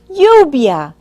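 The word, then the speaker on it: lluvia: are full of water the word for rain in Spanish is yubia listen again yubia now pronounce the parts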